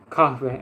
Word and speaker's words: kahve: Y otra palabra es kahve. Creo que todo el mundo sabe esa palabra. Kahve, en turco. Kahve, mira. La palabra de la letra de H se pronuncia.